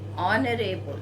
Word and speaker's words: honorable: Honorable, again H is silent here.